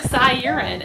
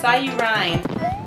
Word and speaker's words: Cy U Rhine: It looks like Cy Urine, and I guess that's how we always say it, but it's Cy U Rhine.